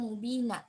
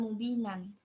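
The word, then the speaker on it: مبينا: Inna fatahna laka fatham mubina, bukan mubinan.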